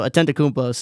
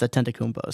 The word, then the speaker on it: Antetokounmpo: So Antetokounmpo is somebody to look out for.